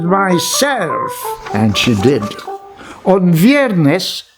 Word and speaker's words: viernes: and she did on viernes that is a spanish word for friday i think we in filipino we say bierness not v viernes okay on weirdness iguana